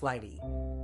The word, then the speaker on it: Lighttpd: what about light tpd light tpd pronounced Lighty is interesting it's designed